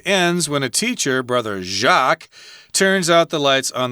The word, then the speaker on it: Jacques: Which is French, but yeah, Brother Jacques. Jacques is how it's pronounced in French, but that's really how we pronounce it in English, too.